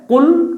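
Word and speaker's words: قُلْ: এজন্য একটা হচ্ছে কুল আরেকটা হচ্ছে কুল। এটা হচ্ছে কফ মোটা। এটা পুর হবে। আর এটা হচ্ছে বারিক পাতলা। এটা খেয়াল রাখতে হবে আমাদের।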